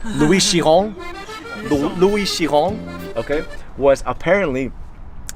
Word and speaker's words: Louis Chiron: So Louis Chiron, I didn't pronounce that perfectly. It's Louis Chiron.